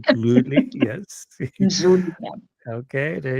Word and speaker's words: Mdhluli: can you please tell me the correct pronunciation of your last name? It's Mdhluli. Mdhluli. It's quite a complex one. Yes, Mdhluli. Mdhluli.